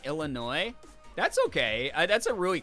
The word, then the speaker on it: Illinois: so mommy sorry exactly I used to pronounce the s in Illinois that's okay that's a